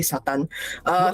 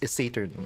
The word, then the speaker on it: Saturn: Wow, I love how you say Satan. well, okay. Satan, right? It's Sega. It's pronounced Sega Saturn Satan, right? is Saturn.